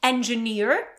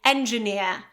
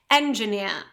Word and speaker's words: engineer: And now the American pronunciation would be with R, so it's going to be engineer, okay? And the British variety without this R being pronounced, so that would be engineer, engineer, okay? Stress on the last syllable, engineer.